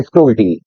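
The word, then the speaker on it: cruelty: है बच्चों कूटी कल्टी कुछ लोग इसको क्रूल बोलते हैं द करेक्ट प्रोनंसिएशन इ कल्टी आइए पहले हम क्रूल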